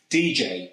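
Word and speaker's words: djay: The first one is DJ, which is spelled D-J-A-Y.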